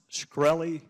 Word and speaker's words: Shkreli: Carolina uh thank you Mr chairman is it pronounced scy yes sir see there you can answer some